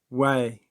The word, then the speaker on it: Huay: Way, which is spelled Huay, means sorcerer or animal familiar.